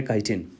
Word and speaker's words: काइटिन: तो सॉरी, मैं इसको प्रोनाउंस गलत कर रहा हूँ, ये चिटिन नहीं है, ये काइटिन है, इसको काइटिन बोला जाता है।